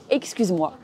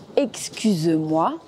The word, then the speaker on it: excuse-moi: Avec les personnes que l'on connaît bien, on utilise la version informelle « excuse-moi » qui se prononce pareil, moins la dernière syllabe. Excusez-moi, excusez-moi. Excuse-moi, excuse-moi.